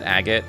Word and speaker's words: Agate: So, pronounce it agate, yeah. A gate lets me use, like, door-related puns. And gate-related puns.